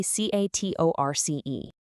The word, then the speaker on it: catorce: 14 is catorce, C-A-T-O-R-C-E, pronounced catorce. Now, you might notice it sounds a tiny bit like the number 4, cuatro, but look at that highly specific spelling.